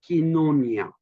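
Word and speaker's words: κοινωνία: The phrase is koinonia politike, Koinoina, pronounced koinonia, not koinoina.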